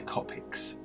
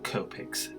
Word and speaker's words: Copics: I'm going to get out my Copics, or Copics, depending on how you want to pronounce it.